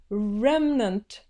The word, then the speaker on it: remnant: So now we're gonna say here, remnant. Sounds like Rembrandt. No, it must be remnant.